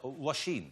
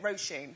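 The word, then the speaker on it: Róisín: Well, Washeen. Yeah, it's like row your boat and Mr. Sheen's how I say it, Roisin.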